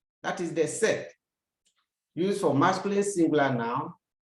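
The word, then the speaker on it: cette: why do you say set to have a look at it sex another set c e t t e this time around we have different spelling of the sets but the same pronunciation before a feminine singular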